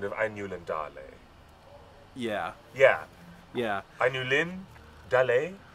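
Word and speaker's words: Ainulindalë: I still get people who correct me on the pronunciation of Ainulin Dale.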